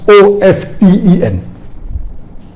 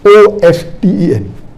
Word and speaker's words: often: Some will say often, some will say often. Previously it was often, then it became often. Now new people are saying often is correct. T is not silent, it should be pronounced. Some say T is silent, and then there's a big debate for that.